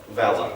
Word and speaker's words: Valher: Do I pronounce it Valher? Valher, there we go, like the man with the Valher.